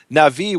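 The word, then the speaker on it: נביא: And one of the things you see here is that the Hebrew word for prophet, which everyone pronounces as Navi, everyone who knows Hebrew, rhymes with Levi.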